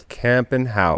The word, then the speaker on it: Kampenhout: Okay, it's a mouthful. It's really the K gets people, but it's camp and camp and how Camp and how.